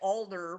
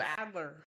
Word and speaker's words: Adler: I can relate a little because my last name sometimes people reverse the A and the L so I get Alder more than I do Adler.